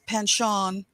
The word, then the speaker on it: penchant: was just thinking about his panchon i just learned how to pronounce that in the french way the other day his